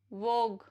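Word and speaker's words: vogue: Rule number 2, यू is silent after a ji when it is before a वोवल. जैसे plague, रोग, वोग, टंग, build.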